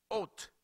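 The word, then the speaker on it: אות: La palabra señal que aparece en Génesis capítulo 1, verso 14, es una palabra que se escribe O-W-T-H. Ot, que viene de la raíz 225.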